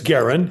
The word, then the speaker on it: Guerin: I've got my friend Garin Refe on today. Am I pronouncing your name right? It's Garin. Yeah.